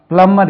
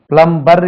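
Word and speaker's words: plumber: யூ எம் பி ஆர் பிளம்மர் இது பிளம்மர் பிளம்மர் பிளம்பர் இல்ல அது பி உச்சரிய விடாது பிளம்பிங் வொர்க் அது பிளம்பிங்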